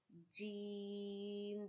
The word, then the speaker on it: ج: and you read Jeem, Jeem, the voice of G, Jeem.